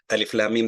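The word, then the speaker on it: الم: Everybody can pronunciate. If I put alif lam mim, they could say alam.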